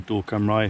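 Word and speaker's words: Dŵr Cymru: is just Welsh Water, or Dor Cymraeg if you want to be give it the Welsh pronunciation.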